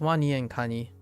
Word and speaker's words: WaniKani: WAN con site oh you asked if it's pronounce Wan Connie oh oh interesting yeah it's Wan and Connie uh Wan for alligator and Cy or crab so their mascot is